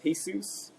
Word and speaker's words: Hesus: The reason my name's Jesus. The reason it's spelled with an H is because I didn't